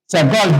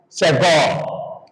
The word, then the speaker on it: segol: That is the sound of segol. The sound is eh eh eh.